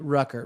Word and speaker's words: Rucker: Rucker, rhymes with trucker.